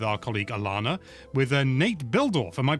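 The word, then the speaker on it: Bihldorff: And this comes from an interview that Zeon did um with our colleague Alana with Nate Buildorf. Am I pronouncing that correctly?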